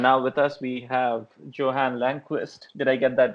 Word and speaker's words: Johan Langqvist: And now with us we have Johan Langquist. Did I get that right? Is that the right pronunciation? Yeah, Johan Langquist sounds pretty good in English.